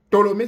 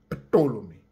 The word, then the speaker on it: Ptolémée: Ptolémée s'écrit avec un P, on ne prononce pas le P, il est silencieux. Donc vous lirez Ptolémée Soter, qui était bien